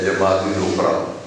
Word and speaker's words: جمادی الاخری: مہینہ بھی کہتے ہیں اور صحیح تلفظ اس کا ہے جمادی الاخری، عام زبان میں اسے جمادی الثانی بھی کہتے ہیں۔ آج اس کی